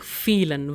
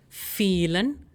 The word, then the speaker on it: vielen: In case of this phrase, I am saying vielen. Why? Because we have the diphthong IE ending in E. Pronunciation is E. Hence, vielen Dank.